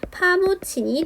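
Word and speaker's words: 파묻힌: 그래서 최종 발음은 파무친이 되는 겁니다.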